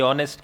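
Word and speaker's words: honest: रही है क्या, ये ऑनेस्ट की। तो फिर यहां पर ए करते ही क्या हो जाएगा, चलो ठीक है। ये लेटर कैसा, कॉन्सोनेंट, लेकिन साउंड कैसी, वॉवेल, क्योंकि साइलेंट हो गया यहां पर ये।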